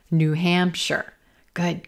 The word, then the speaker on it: New Hampshire: I'm going to stress the second word here, Hampshire, Hampshire. It's not New Hampshire, New Hampshire, New Hampshire. Good, good.